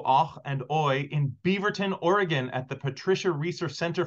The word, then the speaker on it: Oregon: to inform you that the state is not pronounced Oregon it's Oregon if you want to get along well with